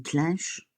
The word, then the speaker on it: clinche: Ah, normalement, on dit pas clenche, on dit une clinche.